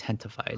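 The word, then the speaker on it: Gentefied: It's spelled with a G, gentified, but it's like pronounced Hentified.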